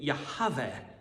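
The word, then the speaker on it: Yahweh: the Eternal one and that's what the name yahav as the Jews would have pronounced it if they allowed themselves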